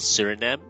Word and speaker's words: Suriname: South America beautiful country with beautiful people called Surinm in South America. Uh it's spelled with s u r i n a m e in the title as you can see.